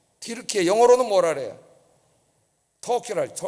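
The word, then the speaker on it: Türkiye: 티르키예. 영어로는 뭐라 그래요? 터키라. 우리는 터키 영어식으로 이렇게 발음했는데 이 사람들은 티르키예라고 발음을 합니다.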